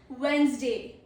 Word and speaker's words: Wednesday: Pro tip is the middle D is silent in the speech.